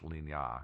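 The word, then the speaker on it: Lignières: He lived on a farm with his kids and his wife in Ligna. It looks like it's spelled like Lignieres, but it's actually pronounced Ligna. Yeah, because it's French.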